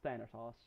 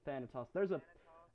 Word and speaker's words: Thanatos: It's Thanatos. Thanahos? Thanatos. I think I'm pronouncing that correctly. Thanatos.